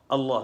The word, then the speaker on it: Allah: tampak pada Allahumma Allah Allah tuh dibaca dengan double l ya lam allah' dulu gitu